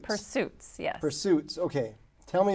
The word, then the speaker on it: Pursesuitz: And then the one that I always have a hard time pronouncing, Pursesuitz. Pursesuitz, yes.